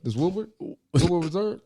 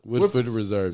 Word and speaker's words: Woodford Reserve: This Woodward Reserve. Woodford Reserve. Yeah. Woodford Reserve. Oh yeah. Oh, you saying it right now, huh? Nigga, because I got corrected.